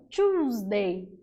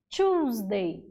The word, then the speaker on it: Tuesday: Terça-feira, ó, Tuesday. Tuesday. Então, nota que a terça-feira eu tenho uma escrita com two E's, mas a pronúncia é com choose. Tuesday.